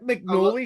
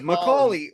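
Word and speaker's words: McAuley: I like McNally Schenker better than the Michael Schenker band. Who's McNally? Not me. Yeah, who's McNally? Macaulay.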